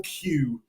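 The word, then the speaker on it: queue: The line está bien, como se entiende, pero mejor decir the Q. Es muy fácil pronunciar, solo es la letra Q. Se escribe diferente, pero la letra Q es como se pronuncia cola, the Q.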